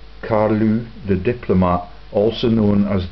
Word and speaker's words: Carlos: Carlos character who was Carlos I of Portugal yeah it it's pronounced uh CaRu the Diplomat also known